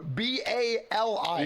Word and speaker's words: Bali: what is it did you just call it Bali it's called it's that's how you pronounce it it's Bali b a r l e y no b a l i b a l yeah Bali I am so